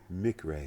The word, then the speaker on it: McRae: Uh Mcra. Mick Ray.